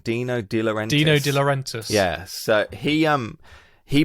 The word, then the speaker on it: Dino De Laurentiis: then well what they get offered first is dino de diore i can always say his name wrong dino dealer dino de laurentiis yes so he um he basically keeps badgering